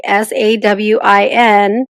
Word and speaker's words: Samhain: So it should be like SAWIN, but there's SAM. I don't hear an M anywhere.